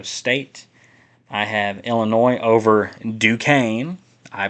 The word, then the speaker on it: Duquesne: I have Illinois over Duquesne. I pronounced it correctly this time.